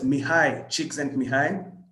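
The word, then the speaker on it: Mihaly Csikszentmihalyi: looks like and that's what that name is pronounced as mihai cheeks and behind so he's a hungarian american psychologist so these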